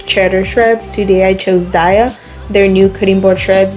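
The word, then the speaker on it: Daiya: Sorry for saying Daya, I know it's pronounced Daya, my bad.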